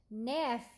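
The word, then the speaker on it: nephr: the Greek word root the Greek root nef which is NE e p HR and the Latin root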